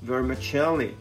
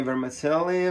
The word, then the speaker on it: vermicelli: call it in egypt but uh the italian pronunciation is vermicelli and it is one pound of vermicelli some people say vermicelli vermicelli vermicelli uh you choose but uh this